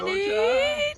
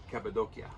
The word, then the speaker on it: Cappadocia: Cappadocia. It's actually Cappadocia. Cappadocia, let's say it right.